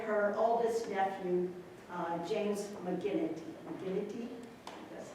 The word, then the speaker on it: McGinnity: McGinnity?